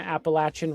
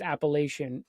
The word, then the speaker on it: Appalachian: to believe me but you serve Tennessee and the Appalachin re region which everybody thinks it's Appalachian. It's not folks.